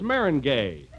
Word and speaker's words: meringue: lemon meringue foreign Jew well that's Marin gay oh is that the way it's pronounced you learn something every